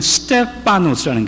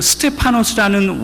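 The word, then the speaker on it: στέφανος: 또 하나 왕관으로 쓰여지는 헬라어가 뭐가 있냐면 스테파노스라는 게 파노스, 그냥 피 발음을 하죠. 편하게.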